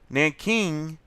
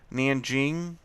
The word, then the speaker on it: Nanjing: Nanking, and also you'll see it spelled Nanjing. That's the Chinese pronunciation, but you could say Nanking or Nanjing. It does not matter. They're both correct. It depends if you're speaking American English or trying to be correctly Chinese.